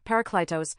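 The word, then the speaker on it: Παράκλητος: A comforter, advocate, helper, Parakletos, pi alpharo alpha kapalanda eta tau omicron, as believed by Christians.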